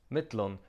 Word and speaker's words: millum: in this case, because mittlon, the Faroese word for between, traditionally takes the genitive. Notice also that the double L is pronounced DL.